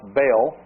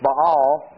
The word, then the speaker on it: Baal: To go Baal, sometimes pronounced Bale, Hebrew, it's Baal.